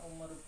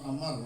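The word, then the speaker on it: Amr: Kedua riwayat Muslim daripada hadis Umar bin As. Ketika hendak wafat berwasiat Itu bukan Umar, Amar lah, Amar. Bila Umar wawunya kan ada. Amar. Bila pakai waw itu Amar bacanya.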